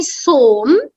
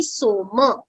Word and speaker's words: Soma: So you can't say Som because Soma that's how you pronounce it in Hindi like that. But in Sanskritam, it has to be Soma. Because if you say Som, then it is Som with a halant.